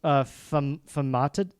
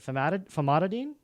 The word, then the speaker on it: Famotidine: It's famatid. How do you pronounce that? Famotidine.